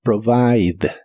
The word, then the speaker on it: provide: de inglés es provide la i se pronuncia como I y la e del final no se pronuncia provide provide en el presente lo